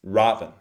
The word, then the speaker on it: Robin: No, it's Robin. First is big, then we reduce it. And hood is expanded, not hood. Hood.